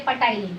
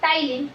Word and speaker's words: ptyalin: And lastly, it secretes the digestive enzyme, that is ptyalin. Don't say patylin, P is silent. The digestive enzyme ptyalin, which is also known as salivary amylase.